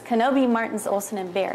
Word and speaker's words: Knobbe: It's Knobbe Martens, Olson, and Bear. It's a handful. But just remember, it rhymes with, it sounds like Obi-Wan Kenobi. Okay, it's not Knobbe, it's Knobbe.